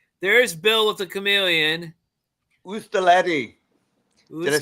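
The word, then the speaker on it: oustaleti: Ustaletti.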